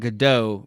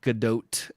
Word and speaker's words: Gadot: say yeah because because everyone I was saying gdau because it looks like a French pronunciation to me and then everyone was saying gdat and I was like that that feels way